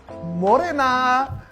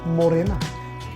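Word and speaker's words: mōrena: Well, I know the more and the ena, but I know some people find it hard to pronounce the R. So how do we do that? Ngahiwi? Yeah, well, there are people who say it's a D sound, right? But it actually isn't.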